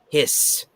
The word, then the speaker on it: HISS: to be pronounced uh hiss tank like an actual snake oh okay yeah i'd